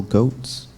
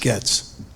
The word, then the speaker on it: Goetz: Next I have Goetz. Hi. It's actually pronounced Getz.